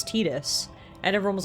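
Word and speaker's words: Tidus: heard this somewhere that everyone it seemed like called him Titus for the longest time, which I think I would also have called him Titus, but I'd only recently heard that the creator of the game was like, "No, it's Tetus."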